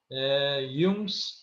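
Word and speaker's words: Jung: gust Y and you know in German uh pronunciation we call he is y y so Yung psycho analytics and the persona persona is pona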